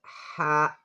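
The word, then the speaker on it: ح: Then ha, ha. The sound comes from the middle of the throat.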